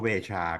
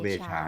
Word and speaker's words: Veja: เป็น บาจา ใช่ มั้ย อ่าน เวนา นะ ครับ ตัว เก ไป ออก เสียง เป็น นคร น คู่ แต่ เอา เอา ต้น ตำรับ ดี กว่า ฝรั่งเศส เ้า ชื่อ เ้า เวชา ก็ เรียก เ เวชา ให้ ให้ เหมือน ต้น ตำลับ เหมือน ต้น ตำรับ เนาะ จาก ฝรั่งเศส แล้ว